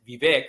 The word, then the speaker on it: Vivek: I'm Vivek, and I think Ramaswamy likes to call it Vivek, which is the correct pronunciation, but it's nice to say Vivek. That's how I like it.